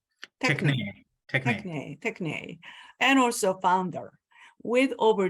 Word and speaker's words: Techne: Am I pronounced properly? Techne? Techne.